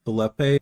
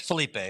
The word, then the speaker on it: Felipe: so next I think is it Philippe please correct me if I'm mispronouncing your name it's Felipe but yeah you're fine